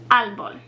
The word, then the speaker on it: árbol: So the accent mark over the A puts the emphasis on that syllable, árbol.